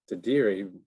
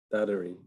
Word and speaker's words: dadirri: And Dadiri, I mean, a lot of people pronounce it dadirri, but I realize I've been pronouncing it the wrong way. Dadiri. Dadirri. Dadiri. Yeah, Dadiri. You can roll the R's at the end.